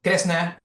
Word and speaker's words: Kresna: So Kresna, or like, we say Kresno in Japanese, you might be familiar with Krishna, like the pronunciations are a bit different.